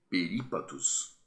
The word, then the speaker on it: perípatos: Na verdade, em português, nós sabemos que todas as propoxítonas são acentuadas. Então, quando a gente vai ler perípatos, ã, com acento, a gente sabe que não tem outra pronúncia e não tem outra forma de, de expressão, a não ser a proparoxítona.